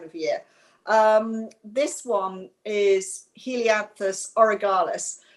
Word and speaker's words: Helianthus orgyalis: This one is Helianthus orgyalis. Don't pronounce it incorrectly because it sounds like an orgy.